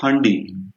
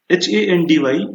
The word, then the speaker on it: Handy: rather pronounce it as handi, right? Because a becomes a, Yeah. right? However, this handi will not be correct. When you pronounce handy, you just pronounce it in the English way, English style.